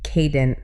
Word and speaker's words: cadent: I see the word cade in there, so I want to say cadent. And that's the trap. It's actually a long A, so cadent.